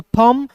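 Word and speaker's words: thumb: देखिए सी ओ एम बी को comb B ओ एमबी को बम टी एच यू एमबी को एमबी को थंब और डी यू एमबी को क्या पढ़ेंगे? डम पढ़ेंगे।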